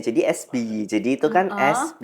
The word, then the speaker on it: esBeeyee: Jadi, yang pertama itu eh mau tak betulin itu pronunciation-nya. Jadi, SBY.